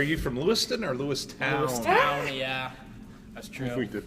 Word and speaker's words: Lewistown: I was like, how do you pronounce Lewiston? Lewistown, if you're from Lewistown. If you're not from Lewistown, you say Lewiston.